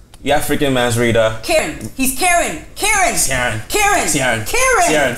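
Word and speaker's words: Ciarán: Karen.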